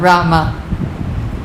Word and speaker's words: Rama: 32 syllables, not Ram, Rama. Don't say Hari Ram, Hari Ram, Hari Rama, Hari Rama.